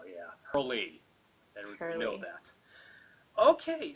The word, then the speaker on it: Herle: Yes, Herle, because before I was pronouncing it Hurl, like hurl a stone or something like that. Or Because a a lot of synonym times for with names like that, the E is like silent.